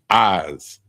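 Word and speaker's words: עז: The next one is goat and it's pronounced eyes like your eyes but it's spelled I Z eyes and that's goat.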